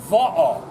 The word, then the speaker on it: va'a: Ho'opilima, repeat after me, va'a.